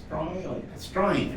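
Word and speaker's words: Stryne: Strine. S-T-R-Y-N-E, I was told to pronounce.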